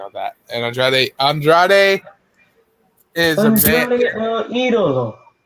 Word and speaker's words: El Idolo: And Andrade is Andrade el Idolo. It's Andrade el Idolo. It's Idolo. El Idolo. Oh my God, Phil! I'm gonna keep you guys on it. I love El Idolo.